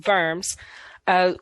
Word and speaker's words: Worms: know it looks like worms but it's german so the w is pronounced like a v it's in verms was attempted to resolve